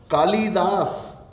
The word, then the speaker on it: कालिदास: कालिदास, कालिदास या कालिदास, कालिदास, काली ई छोटी, कालिदास, कालिदास नहीं, हम बोलते क्या हैं? कालिदास। ई बोलोगे तो लिखोगे भी ई, तो वो शुद्ध नहीं होगा, नंबर कट गया।